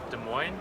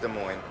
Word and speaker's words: Des Moines: i-80 values you know is that how you pronounce it des moines des moines no it's not as moist as i was saying des moines there's only